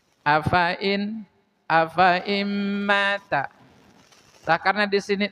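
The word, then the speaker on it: أفإين: Tapi di sini f-nya jangan dibaca panjang ya. Jangan afa immata, tapi fanya-nya pendek. Tah dibacanya seperti ini. Afain.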